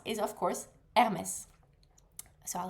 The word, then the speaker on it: Hermès: The first word that we need to pronounce is of course Hermes.